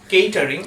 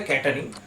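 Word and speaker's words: catering: হবে কেটারিং কেটারিং তো অনেকেই আপনারা বলতে শুনবেন কেটারিং আবার অনেকে বলে ক্যাটারিং বাট ক্যাটারিংটা ঠিক উচ্চারণ না ঠিক উচ্চারণ হবে কেটারিং এরপর আসছি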